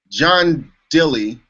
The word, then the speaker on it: John Dilley: And let's see, John Dilley, am I saying it right, John?